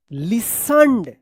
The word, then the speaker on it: listened: listened, देखिए यहां पे LISTEN, यहां तक ले आपने पढ़ा था लिसन, LISTEN, यहां पे जो है ना T साइलेंट था, लेकिन इसमें ED लग गया है, तो क्या पढ़ेंगे?